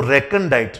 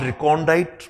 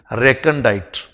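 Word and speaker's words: recondite: ठीक है, तो रेकंडाइट, नॉट रिकॉन्डाइट, प्रोनंसिएशन पे ध्यान दें, रेकंडाइट।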